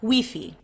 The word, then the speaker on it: Wi-Fi: you will make here Wi-Fi or as it is pronounced here in Cuba we fee it's costlier and will